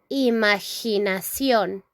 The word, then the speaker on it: imaginación: In English, we say imagination, imagination. And in Spanish, we say imaginación.